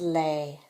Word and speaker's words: les: form is Lu la plural is lei okay so this word sounds like la Y okay to help you with how to say it for the indefinite articles